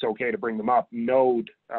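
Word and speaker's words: Knowde: And actually a group, it's okay to bring them up, Node, is spelled K-N-O-W-D-E, advisory group, is a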